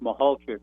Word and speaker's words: Mahalchik: Yeah, it's actually pronounced Mahalchik, Jim Mahalchik, and he actually was Mahalchik. He was Mahalchik, and yeah, it's like trying to.